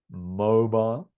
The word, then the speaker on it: mobile: make is your mobile notice how we stress the first syllable mobile repeat everyone mobile it's